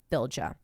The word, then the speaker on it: Fylgja: One particular type of ghost in Norse mythology is the Fylgja, pronounced many ways, but I think in Icelandic it's Fylgja, a ghost that follows you from birth.